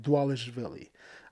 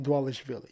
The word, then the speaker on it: Dvalishvili: I always have issues saying his name, Dvalishvili. I think that's how you say it, Dvalishvili.